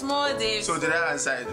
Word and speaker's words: Maldives: It's Maldives.